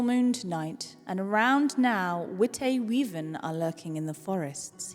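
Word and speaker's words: Witte Wieven: And this is by the lovely Jaxel, who is with us today, who has said that the white weaven is pronounced Wit-a-weaven. Wit-a-weaven.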